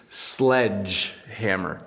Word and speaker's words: sledgehammer: is a great one this is a little hard to pronounce for English learners sledge hammer sledge hammer so the D doesn't make the dis out it makes a sledge hammer there you go if